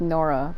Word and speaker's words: Nola: Yeah, they say her name like Nora, but it's spelled like Nola.